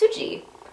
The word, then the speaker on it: Suji: Korean name is sui my friends were call me cuz they couldn't pronounce suji which I feel like is a very curious thing because it's it's suji but they call me